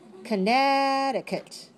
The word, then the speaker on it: Connecticut: The second letter C in the middle is silent.